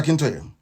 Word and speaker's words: Akintoye: I want to pronounce it correct. Professor Akintoye.